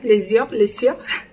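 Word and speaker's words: Lesieur: C'est comme ça que ça se prononce, l'Essieur.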